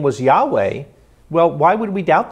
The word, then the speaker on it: Yahweh: also indicated that White's dub you should be pronounced Yahweh you know and I could go on I'll